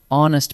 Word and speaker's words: honest: Honest mistake. A or an? Listen to honest. The H is silent, so the word actually begins with the vowel sound on.